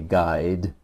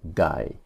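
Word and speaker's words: ไกด์: on the tape is telling you not to pronounce the d not to say guide but simply to say guy it's not that ties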